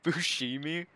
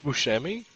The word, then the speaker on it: Buscemi: like that steve buscemi steve buscemi is that how you say his name i thought it's on me yeah i thought yes yeah that's it you said that you had it right the first time you see me nope